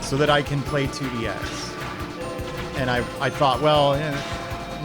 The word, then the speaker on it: IIDX: They were like, DDR is fun at first, but you really got to get into 2DX. And they would laugh at you if you pronounced it IIDX.